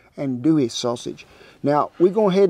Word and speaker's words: andouille: called it some andouille i've pronounced it and dooley for a long time until some of them louisiana folks that's good friends of mine said no and dewey sausage now we go